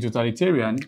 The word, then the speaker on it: totalitarian: And the rule states that if a word ends with the suffix I-N, then definitely the main or primary stress will fall on the penultimate syllable.